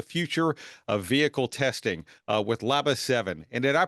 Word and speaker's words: LABA7: topic redefining the future of vehicle testing with labba 7 and did I pronounce that right is that how you pronounce it Andreas yes that's that's right it's labba 7 okay fantastic so uh Andreas is the CEO